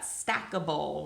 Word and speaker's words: stackable: And then we've got stackable. Remember, it says the word able right at the end, although we pronounce it ibble in this one, okay?